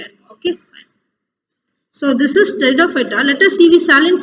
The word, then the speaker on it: Pteridophyta: Okay, here the P is silent here, so you have to pronounce this as Pteridophyta. You should start with T here.